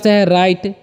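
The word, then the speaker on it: write: उसी तरह से राइट व आर आई टी राइट mains क्या होता है लिखना तो यहां पर भी व साइलेंट है उसी तरह से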